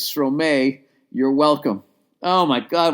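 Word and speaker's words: Stromae: out an artist named stor that's how you say it stor no my god I'm an idiot oh my God I'm a idiot it's stro and then it was Dash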